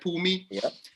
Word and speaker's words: Phumi: so your name like it's two syllables right pooh and me right pumi and uh for for